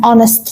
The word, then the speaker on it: honest: هنا احنا الكلمة نفسها بتبدأ بحرف ال H، لكن لما بتيجي تقولها أو تنطقها فأنت بتقول الفويس نفسه بتاع حرف ال O، فبالتالي this is a vowel sound.